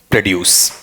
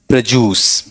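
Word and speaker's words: produce: उच्चारण क्या रहा बोलो आपका प्र और फिर क्या आ गया आपका बताओ ड्यूस ऐसा प्रोड्यूस ऐसा ही पढ़ते हो ना इसका सबसे ज्यादा पाश्चराइट या प्यूरिफाइड उच्चारण ये है ही नहीं वो पता है उच्चारण क्या रहता है आपका वहां पर बोलो देखें बोलो प्रजूस ठीक है ये गौर करना यह वाला पार्ट सबसे अच्छा प्रोजूस दूसरे का जूस नहीं प्रजूस ठीक है यहां वाले पार्ट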